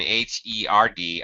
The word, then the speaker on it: herd: a r d and h e r d are pronounced exactly the same if this helps they are homonym um sorry homophones heard heard these are pronounced exactly the same the r sound same